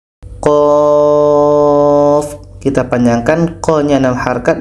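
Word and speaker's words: ق: baru bisa betul bacaannya ini tidak boleh dibaca Q tapi qof dan Q ini dibaca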